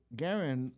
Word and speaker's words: Garen: Well, Garen, did I say it right?